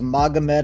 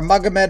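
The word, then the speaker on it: Magomed: and anytime you have the three syllables magamet in your name you're usually a very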